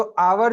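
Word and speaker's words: hour: तो आवर जो है यहाँ पे उसका प्रोनाउंसिएशन जो होता है आवर से होता अ से होता है, तो यहाँ पे हम एन आवर लगाते हैं.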